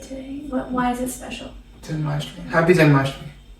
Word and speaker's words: Janmashtami: Janmashtami. Happy Janmashtami. How do you say it? Happy. Jan. Ma. Shtimi.